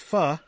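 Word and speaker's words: phở: popular Vietnamese soup, pronounced pho, so it's pronounced pho, so it is fucking good. When put before king, sounds like a word not spoken in polite company.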